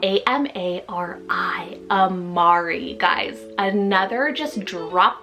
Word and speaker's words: Amari: Then I have Amari, spelled A-M-A-R-I, Amari.